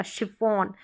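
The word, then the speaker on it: chiffon: कि यहां पर देखें इसको हम चि शिफॉन नहीं पढ़ेंगे शिफॉन श साउंड आएगा शिफॉन अब इसको भी हम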